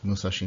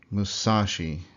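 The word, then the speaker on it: 武蔵: So this would be more like Musashi Miyamoto. Very little variation between the volume and length of those syllables. Musashi Miyamoto. Not like Musashi Miyamoto, which is how an English speaker would say that.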